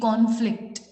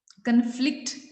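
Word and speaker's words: conflict: है स्क्रीन पे द कॉन्फ्लिक्ट। कॉन्फ्लिक्ट, कॉन्फ्लिक्ट जो है, हमने CON जो हाईलाइटेड है हम उस पर स्ट्रेस दे रहे हैं, कन्फ्लिक्ट नहीं पढ़ रहे हैं, हम बोल रहे हैं कॉन्फ्लिक्ट।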